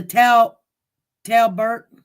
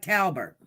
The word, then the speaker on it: Talbert: Well, she's telling me to pronounce it like Talbert. And I think that's exactly how to pronounce it, like Talbert. Thank you, Chrissy. It's weird. It is actually spelled like a T-O, but it's pronounced. I know the first beginning of how they pronounce his name is Tal. And so it's got to be Talbert.